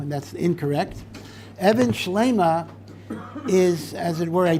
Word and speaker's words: Even Shleima: of safer and this is a safer called Evan schleima note in case you don't pronounce it correctly you're given the Kudos Evans A lot of people say Evan shalomo and that's incorrect Evan schlima is as it were a pun when the